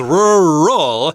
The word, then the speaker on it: rural: Rural is two syllables rural although a lot of people have difficulty pronouncing this they might just say Rural and it sounds like one syllable but it's technically supposed to be two syllables and while we're at